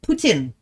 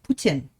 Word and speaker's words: Putin: Putin. Like poo, tin. Like a tin roof. Putin.